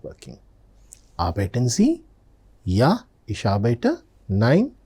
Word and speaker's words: arbeiten: So they may just ask you, arbeiten Sie? Arbeiten Sie? When I am saying arbeiten, observe, the R letter is very faintly pronounced.